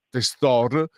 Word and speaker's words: Testor: ancora alla senatrice Elena testo testor Io la pronuncio alla veneta e grazie davvero e